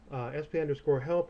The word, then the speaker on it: sp_help: SP_help, or people just pronounce it usually SP Help.